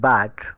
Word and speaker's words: but: বি ইউটি বাট হলে পি ইউটি পুট কেন?